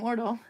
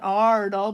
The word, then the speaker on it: Ordal: a circle over, like your name, Ordal. It's not Ardal, but it's Ordal because the two A's is another way of making A with a circle over it, which pronounced O, like in boat, especially if you're from Minnesota and you say boat. Then you got it right.